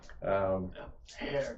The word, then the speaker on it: heir: Hair to hair. Hair. You're not supposed to pronounce the H.